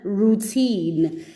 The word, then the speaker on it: routine: An O and a U together can sound like oo, like in routine, and in the word mousse, like chocolate mousse. Chocolate mousse is spelled with an OU, but the OU sounds like oo, exactly the way it sounds in this word routine, okay?